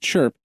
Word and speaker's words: CHRP: success successors the common Hardware reference platform chrp pronounced chirp is designed to create a common standard for